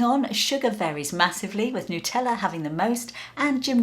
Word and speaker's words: Nutella: gonna start quite rightly with the original itself nutella which news to me is how you pronounce it says the company website here in the uk i've always known it as nutella as mentioned this is the creation of italian